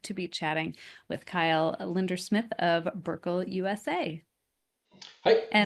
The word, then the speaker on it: Lindersmith: So, Kyle Lindersmith.